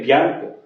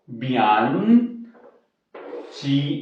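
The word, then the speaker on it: bianco: हो गया बिया, एन, बियान, ची के आगे ओ लगेगा तो वो आवाज क्या हो जाएगी, को की हो जाएगी, ठीक है। क्यों, अब आप इसको बयानचो नहीं कह सकते, ठीक है, ये भी बाद में आपको पता चल जाएगा।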